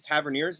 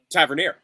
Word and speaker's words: Tavernier: Bournemouth is that I have been pronouncing James tavernier's name wrong basically since he entered the Premier League how do we pronounce it Tavernier I always thought it was Tavernier ah that's